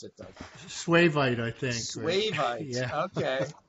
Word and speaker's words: suevite: I don't even know how you pronounce it, Doug. Suevite, I think.